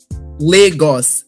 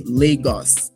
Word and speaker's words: Lagos: Legos. Legos. Legos. Like Legos. But Legos. Legos. Like I would say it with a Nigerian accent. It would be Legos.